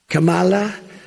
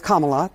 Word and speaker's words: Kamala: they are really screwing it is Kamala for the record I can't pronounce her name right either with apologies to Kamala Kamala Kamal dingdong but he is denigrating